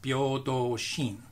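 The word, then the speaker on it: 平等心: In Japanese, the characters are pronounced Byodo Shin.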